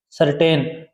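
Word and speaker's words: certain: निश्चित सर्टेन क्या निश्चित सी के बाद में ई आता है आई आता है वाई आता है तो सी है व स का उच्चारण देता है उरण देता है का य पर कटेन नहीं बोले क्या बोले सर्टेन और यह क्या होता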